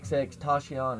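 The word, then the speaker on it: XXXTentacion: I was gonna ask y'all, like, y'all do music, and I never listened to that XX Tashion.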